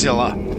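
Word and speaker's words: Sylla: all began and now I finally know it's pronounced Silla okay with this looks romantic yes sir Hawkins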